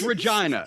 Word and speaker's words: Regina: It's Regina. Regina. It rhymes with...